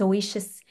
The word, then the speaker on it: Ousia: I got to get this word pronunciation. I just found it and I need to learn how to. It's oasis.